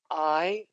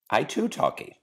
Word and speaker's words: Aitutaki: Aitutaki. Aitutaki. Okay, good. Yes, Aitutaki. good. Got it. How do you teach the Baha'i Faith in Aitutaki? I teach it every single day in Aitutaki.